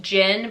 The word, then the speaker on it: djinn: the vessel for the djinn, which it's pronounced, I guess, just Jinn, but it's D-J-I-N-N, but it's supposed to be like a genie.